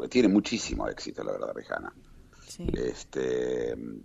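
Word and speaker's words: Rihanna: muchísimo éxito La verdad rijana sí este yo la llamo rijana porque por algún motivo Supongo que la H habría que que pronunciarla Pero bueno todos dicen riana no sí es cierto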